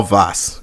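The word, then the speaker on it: Vaas: is all vas vas I was saying his name wrong it's all vas in the first act and then you have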